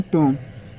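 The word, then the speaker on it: tomb: ओ एम बी यहां भी क्या है बी साइलेंट है तो इसे क्या पढ़ेंगे बोम और टी ओ एम बी इसे क्या पढ़ेंगे टोम और डी ई बी टी इसे क्या पढ़ेंगे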